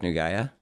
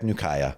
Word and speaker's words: Nukaya: That was a soft So, Jack, let me make sure I'm pronouncing your name right. Jack Nugaya. Jack Nukaya. Nukaya. Yep. And actually, um I've it's like there's Nukea.